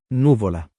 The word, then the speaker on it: nuvola: Let's see, Nuvola. Nuvola. Oh, that's where the stress goes.